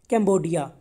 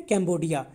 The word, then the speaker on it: कैम्बोडिया: So students मैं आपको बता दूं, जो कैम्पुचिया है ना, हम दिखने में कैम्पुचिया है, लेकिन इसको जब बोलते हैं ना जो वहाँ की कंट्री वाले, वो बोलते हैं कैम्बोडिया, ओके, कैम्बोडिया।